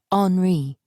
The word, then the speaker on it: Henri: His name is pronounced the French way, he told me the first time we spoke. Henri.